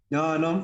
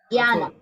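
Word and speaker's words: ज्ञानम्: Actually, this is referring to this Sanskrit syllable which typically in North India we pronounce it as Gya. But it is actually not Gya, it is Jia.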